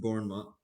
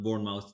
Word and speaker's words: Bournemouth: They lost their most recent match against Bournemouth, I think, is how you pronounce it.